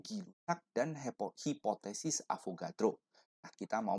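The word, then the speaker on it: Gay-Lussac: kita mau membahas tentang hukum gay rusak ya bacanya yang seharusnya benar adalah hukum gila dan hipotesis avogadro kita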